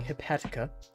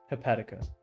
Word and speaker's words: hepatica: the next so today uh we are drawing hipatia I think you know I'm going to Google